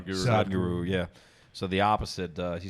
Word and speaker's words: Sadhguru: But so Sadhguru, I'm probably saying his name wrong. Sadhguru. Sadhguru, yeah.